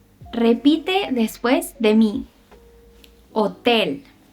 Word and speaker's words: hotel: En español solemos decir que la H es muda. Nunca se pronuncia, a menos que antes